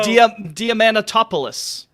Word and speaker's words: Diamantopoulos: So Diamantopoulos.